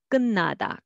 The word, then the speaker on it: 끝나다: So let's read syllable by syllable. 듣는, but together, 듣는, 듣는. And it는 will be 있는, 있는. Next, 끝나다, together, 끝나다, 끝나다, more like an sound.